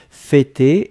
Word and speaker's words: fêter: Fêter, et on prononce bien le « e-e-e » pour l'accent circonflexe.